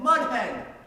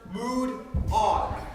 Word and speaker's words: Moudon: We can get someone to kidnap old Mudhen. Only a fool would resort to kidnapping someone. And if it comes up again, it's pronounced mood on.